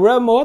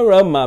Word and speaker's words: Rama: Então, Ramo tá certo também, é o nome de Krishna mesmo, né? Eu acho que tem alguns devotos ocidentais que vão para alguns lugares onde a pronúncia, né, é mais Ramo e acham bonitinho e começam a cantar, ou que combina melhor com a melodia e por isso eles falam Ramo, né? Prabhupada falava Rama mesmo, bem sempre, né?